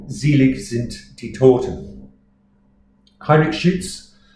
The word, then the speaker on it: Schütz: Heinrich Schütz, Schütz that is, U with a normal out.